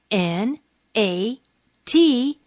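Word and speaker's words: gnat: you g yes sir except when i'm silent and then you don't hear me at all when is that when i'm followed by the letter n like in g n a t nat g n okay letter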